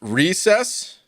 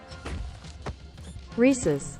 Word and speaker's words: Reese's: if that's what happened it's pronounced recess like the cartoon recess is it really hold on dude how do you pronounce uh reese's it's not recessed though reeses i i whatever that's